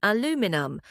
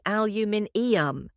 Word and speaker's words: aluminium: Americans say aluminum, while the British say aluminium. It's like they added an extra syllable just to make it sound fancier. Well, to be fair, the British spelling does have an extra I in it.